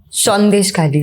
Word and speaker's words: Sandeshkhali: Khali as a reporter did I pronounce that right yes shes Khali shes Khali all right